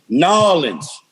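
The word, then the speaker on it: New Orleans: So then you don't get no feeling like the real Nolans. They told me that. You got to say it like that. A.W. You got to say Nolans and going to the store.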